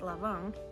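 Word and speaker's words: Lã Vọng: jiangxia also known as lu wang which is pronounced lavon in vietnamese who was a fisherman turned politician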